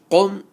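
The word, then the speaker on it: قُم: Qaf, mim, pish, qum. Many people, when they pronounce this word, they don't pronounce the qaf with the full mouth.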